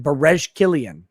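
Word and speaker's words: Berejiklian: all that same uh b e r e j i k l i a n bares killian okay she is the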